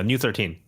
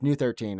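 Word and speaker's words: ν-13: v number V is it's not pronounced as V I believe so it is it's that is pronounced as new actually new yeah new 13. oh so it's new 13 okay that wasn't the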